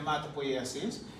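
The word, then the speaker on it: hematopoiesis: Ang pronunciation niyan, hematopoasis is the process that produces the formed elements of the blood.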